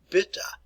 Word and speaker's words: bitte: Remember, E's are always pronounced, so it is bitte.